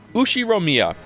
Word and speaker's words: Ushiromiya: Ushiromiya? Ushiromiya? Ushiromiya. Is that it? Did I get it? Ushiromiya. Alright, that's much easier to say. Okay, so combine it into like one thing at the beginning. Ushiromiya, George.